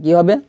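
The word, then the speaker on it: قَوْ: লিতুং জি, রজবর র, র, রটা মোটা হবে, লিতুং জি র, কফ ওয়াজবর কৌ, কফ ওয়াজবর কাউ হবে না, কি হবে কৌ হবে, কৌ।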